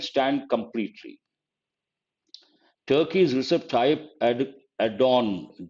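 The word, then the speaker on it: Erdoğan: Turkey's Recep Tayyip Erdogan, G is silent, I suppose, who visited Ukraine last week, has offered to host a peace meet.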